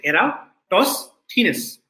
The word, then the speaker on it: Eratosthenes: sieve of eratosthenes and this is how you pronounce the name you say era toss thinness okay eratosthenes so this thief alcohol